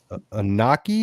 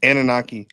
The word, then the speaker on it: Anunnaki: So, one one subject that came up was I guess it's the Anaki. Is that is that how did I pronounce it wrong? Yes. Anunnaki.